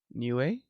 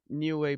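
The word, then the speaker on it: Niue: How How do you pronounce that thing, bro? Newway.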